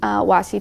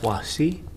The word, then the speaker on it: washi: tape it to it using wassi tape but you can use painters tape excuse me washi tape i think it's pronounced washi washi that's it that's how it's pronounced okay so then you're